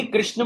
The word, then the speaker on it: कृष्ण: ऐसे ही कृष्ण में भी आता है, श्री कृष्ण शरणम मम. कृष्ण ह नहीं आएगा, कृष्ण. अणा के बाद विसर्ग है तो उस पर थोड़ा सा जोर होगा, श्री कृष्ण शरणम मम.